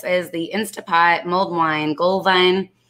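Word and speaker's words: Glühwein: Gullwein is how you say it in German. Gullwein. W's are pronounced V's.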